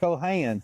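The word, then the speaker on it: Cole Haan: Oh, that's Cohan. Is that how you say it? What do you- Cohan. Cohan. And I've been saying it wrong all these years.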